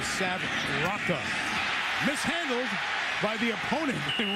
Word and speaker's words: Rocca: We've heard it pronounced Roca. He corrected it this week, says Sav Rocca.